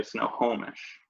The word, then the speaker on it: Snohomish: it I would say I stress the middle syllable where I say Snohomish more so than saying Snohomish what I digress poletik